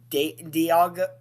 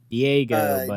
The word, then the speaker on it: Diego: But if I see Vanderbilt and Dieago Diego, Diego, sorry, it's late.